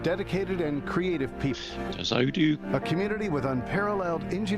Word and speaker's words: Odoo: Millions of open source developers, partners, Odoo is how they're pronouncing it.